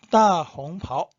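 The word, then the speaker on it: 大红袍: 이 발음을 꼭 기억하세요. 자주 쓰이는 겁니다. 7번 따홍파오, 따홍파오, 대홍포.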